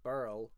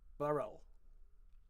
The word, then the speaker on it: birl: it like I do, burl, one syllable. If you see B-I-R-L, you will pronounce it with 2 syllables, burl, kind of like girl, whereas I would say girl, burl.